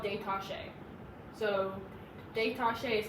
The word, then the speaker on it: détaché: What we're doing, 1 note per bow, that's called détaché. So détaché is spelled like detached.